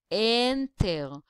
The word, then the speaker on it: enter: In enter, we cannot say enter, but we can say enter, which means the first syllable, the N, is the stressed one.